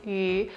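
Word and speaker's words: 鱼: The fish also represents prosperity because in Chinese, the pronunciation of fish is yu, which kind of sounds like the word surplus or abundance.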